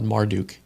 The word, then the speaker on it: Marduk: also because he's in Persia, that first two syllables, Morduk, he's named after the god Marduk.